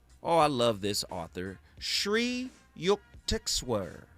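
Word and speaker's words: Sri Yukteswar: Shri Yuktexwear. Say that name with me. Shri Yuker. Yeah, that's exactly how you say it.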